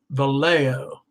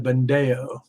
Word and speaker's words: Vallejo: wrong thing uh okay it's pronounced vallejo instead of bondeo that's pretty darn close